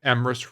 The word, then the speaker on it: Emrys: But Friday, I will be doing a collab with Emrys Rhymes with Abyss, who is a wonderful